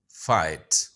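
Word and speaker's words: fight: तीसरा वर्ड है फाइट। अच्छा यहां पर जी एच साइलेंट है।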